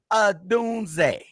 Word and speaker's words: Odunze: Pronounce that man's name right. Listen. Odunze. You know, see, you be just talking too fast. I know you know how to say it. But look, Odunze, I'm not mad if he sit out this game.